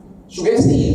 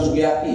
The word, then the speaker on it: sugesti: tidak punya sugesti Bapak sugesti bukan sugakti ya sugesti Apa itu sugesti